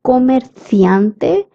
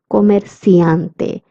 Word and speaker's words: comerciante: A person from Spain would say comerciante, and a person from Latin America would say comerciante.